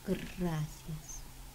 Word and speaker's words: gracias: Can you roll your tongue and say gracias? As in muchas gracias.